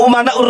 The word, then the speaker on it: umana: Bahar bin Smith, al-ulama umana'ur rusul, tapi bacanya al-ulama amana'ur rusul. Saya katakan salah. Kenapa? Karena di sini umana.